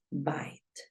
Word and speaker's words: bite: nuevamente aquí y vamos tú ya sabes que suena bite Espérame la escribimos con color verde para que recuerdes que la pronunciación se escribe con color verde by bite es mordisco y cambia la vocal porque solo hay una consonante entre la e muda y la vocal que me interesa Entonces es muy sencillo